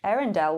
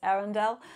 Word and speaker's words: Earendel: So it's spelled E-A-R. So it kind of sounds like Arendelle in terms of the Frozen.